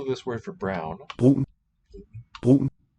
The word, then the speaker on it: brun: there's a little catchy quality in there. Brun. I think it's a thing called stød. Whatever it's called, some words have it, some don't. Nothing in the spelling indicates it, so you have to memorize where it belongs.